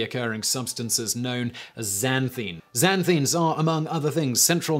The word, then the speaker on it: xanthines: Xanthines are, among other things, I'm going to check the pronunciation on xanthines, because it's got an X at the beginning, which is always a bit weird. X-A-N-thines. Xanthines. Come on. Tell me. Xanthines. Xanthines.